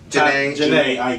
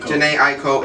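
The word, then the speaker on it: Jhené Aiko: Janae Aiko. Janae Aiko and Feed.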